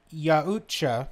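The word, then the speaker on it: Yautja: predator objection just desks lamb fires the shoulder gun it's actually pronounced Yahoo cha yah-yah-yah with the accent on the second syllable and where the CH is close to a J sound yeah it's uh so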